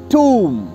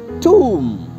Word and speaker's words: tomb: Lekin is word mein TOMB, B to silent hai hi, lekin O ka pronunciation ऊ की तरह किया जाएगा। सो the right and correct pronunciation of this word is टूम, TOMB, टूम, टूम।